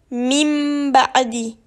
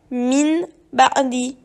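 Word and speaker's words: مِن بَعْدِ: Quand tu vois ce petit mime sur un noun, tu ne dois pas prononcer le noun, tu dois prononcer le mime. Le noun est remplacé par le mime. Ici, tu dois donc lire mim ba'di. Il ne faut surtout pas lire min ba'di, car on ne doit pas lire le noun.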